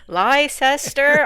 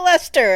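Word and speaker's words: Leicester: I know it's like liester all these extra the the Brits are great for all these extra silent letters in in words I think it comes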